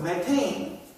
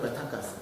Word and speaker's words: 메테인: 메탄가스 어 메탄가스 부탄가스 이런 거 있죠? 이런 거 좀 발음을 좀 정확히 바뀌어 가지고 부탄 가스가 아니라 뷰가스, 메탄 가스가 아니라 메테인 가스 이런 겠습니다.